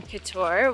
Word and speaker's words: Kotor: it yes so to reiterate we are in Couture which is coutur trying to pronounce a little bit more properly like local